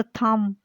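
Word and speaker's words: thumb: उससे आगे अगला लफ्ज़ थम, बी लिखेंगे लेकिन पढ़ेंगे नहीं, थम इसको पढ़ेंगे।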